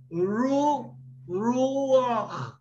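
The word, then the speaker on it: רוח: If I will pronounce this, I will pronounce this as ruach.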